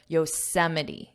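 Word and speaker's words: Yosemite: write it down how you think it sounds phonetically as well just remember yosity yosity let's continue last year Alex honold chocked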